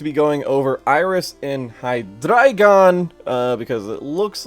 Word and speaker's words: Hydreigon: its three heads, so I'm assuming it's drei as in the German pronunciation of drei, three.